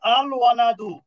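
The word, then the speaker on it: الوَلَدُ: এই যে দেখেন আল ওয়ালাদু, এখানে ওয়াওটা কি অক্ষর, কমারি অক্ষর। ওটা কমারি অক্ষর, এই জন্য এখানে লামটা কি হয়েছে, উচ্চারিত হয়েছে।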